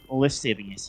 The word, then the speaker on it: lascivious: Lascivious? Sounds like a Harry Potter spell. Oh, it's spelled a little bit wrong, but it's lascivious, yes, like you say.